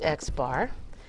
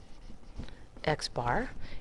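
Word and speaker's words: x̄: it has a symbol it's xar and that's exactly how we say that xar and if you Rec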